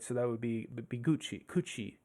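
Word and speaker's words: 口: Kuchi would be one way of pronouncing just that.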